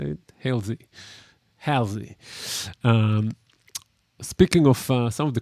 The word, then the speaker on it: Halsey: Great vocalists, by the way, Khalid and Haley, I believe that's how you say it. Halsey.